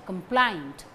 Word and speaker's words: complaint: Write to the director and lodge a complaint. Write to the director and lodge a complaint. Write, director, lodge, complaint. Complaint, stress falls on plaint.